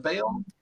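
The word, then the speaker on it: Bael: for big rick and fail as in like the pagan god bail i mean it is spelled the same b-a-e-l but otherwise no no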